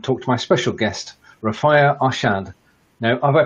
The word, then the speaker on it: Rafia Arshad: And today's a very special day as I get together and talk to my special guest, Rafia Arshad. Now, have I pronounced your name correctly, first of all?